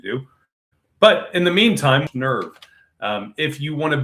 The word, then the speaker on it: N3rve: But in the meantime, nerve um if you want to be on the ground floor, go go to nerve nerve spelled with a three. So N3 RV.